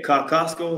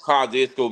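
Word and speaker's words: Kosciusko: every class what's what's the city how you pronounce the city that she uh she came from who uh o Winfrey yeah kostco or something like that oh kesco Mississippi kesco Mississippi is where OA rerey is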